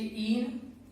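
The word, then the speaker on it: ene: Spelling clear है, यहाँ पर ई से स्टार्ट हो रहा है और ये बाई से, इसे क्या बोलते हैं हम, एन, इसे ईन और इसे आयन, ठीक है।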